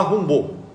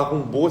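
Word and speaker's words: Rimbaud: Mas se fala rombou, tá? É aqueles que esses nomes franceses têm toda uma entonação diferente, mas ele se fala rumbou, se escreve Rimbald.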